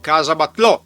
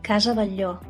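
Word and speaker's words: Casa Batlló: happen to hear words Italianized Spanish such as casa batlò which is actually pronounced casa bagò To help you I will put Anyway I'll put the words in superimposition because Why choose Barcelona?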